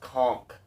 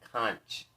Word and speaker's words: conch: Oh, snails, slugs, whelks, conchs, and abalone. It's pronounced conch. Patrick and SpongeBob did not have a magic conch.